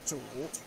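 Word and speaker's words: 主: So that's called, the pronunciation is zhu.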